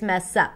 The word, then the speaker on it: mess up: The S of the word mess becomes the beginning of the next syllable, which is up, and then that's what we hear, mess up.